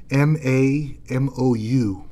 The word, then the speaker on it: Mamou: It's M-A-M-O-U, Mamou.